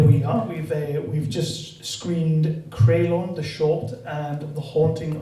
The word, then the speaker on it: Creulon: That is how you say Creulon, isn't it? Creulon, yeah. Yes, So excellent. Welsh word, yeah.